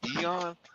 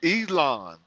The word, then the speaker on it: Elon: I was like, Eon. Yeah, I think that's how you say his name for real. No, it's Elon. Yeah. No, but how he says it is Elon.